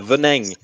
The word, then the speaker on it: Venin: Oui, mais c'est parce que tu le prononces mal, c'est Venin.